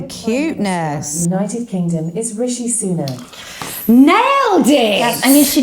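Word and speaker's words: Sunak: I actually know this one exactly it's Rishi sunac yes how do you say it let's see if Alexa knows okay great Alexa who's the UK prime minister stop it with the cuteness United Kingdom is Rishi sooner nailed it I mean she did hear me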